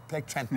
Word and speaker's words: Plectranthi: Plectranthi.